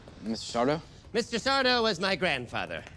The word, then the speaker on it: Sardo: That's Sardo. No, mister. Accent on the dough. Mr. Sardo?